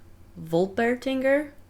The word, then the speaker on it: Wolpertinger: Okay, I'm gonna guess the next one is pronounced Wolpertinger, because usually in German W's sound more like V's.